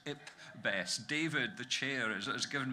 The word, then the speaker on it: IPBES: And I'm assured you're supposed to pronounce it IPBES.